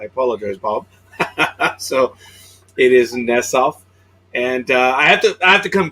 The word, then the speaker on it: Nesoff: So it is Nesoff, and I have to come clean, Bob. For 5 years, I've been pronouncing it incorrectly.